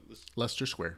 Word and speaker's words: Leicester Square: How do you pronounce that? Leicester Square.